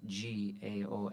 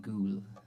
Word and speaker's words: Gaol: It's spelled Tralee, Tralee, and then the Irish spelling for jail, Gaol. So I think Patrick called it Tralee Ghoul.